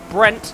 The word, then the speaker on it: Brent: And now Prince Brent Diamond, I've now been told it's pronounced Prince Brent, not Brett. I read it with two T's because I'm an idiot.